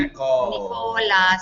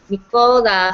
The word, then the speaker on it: Nicola: Nicola. See, I like to say it like Ricola, like the rucola.